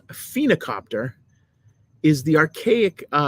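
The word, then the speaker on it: phoenicopter: was very interesting because I don't know if you would pronounce it phena or phonocopter, but I think it's phena, like almost like a phoenix, even though it's not spelled like it.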